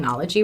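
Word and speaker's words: oenology: Science in viticulture and anology am I pronouncing anology right that's right awesome she has been learning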